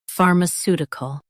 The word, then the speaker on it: pharmaceutical: far m su ti cal pharmaceutical Stress the su syllable and keep ti light. far m su ti cal pharmaceutical Stress the su syllable and keep ti light.